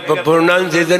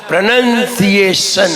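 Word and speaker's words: pronunciation: हमने कहा प्रोनाउंसिएशन नहीं होता। प्रोनंसिएशन होता है।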